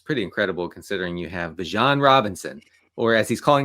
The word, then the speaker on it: Bijan: Well, he still wants it to be Bijan. And Denny pronounced it Tyler Algier.